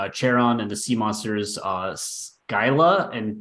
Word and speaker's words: Scylla: Lovecraftian theme, including Charon and the sea monsters Scylla and Charybdis. Pronunciation Scylla and Charybdis.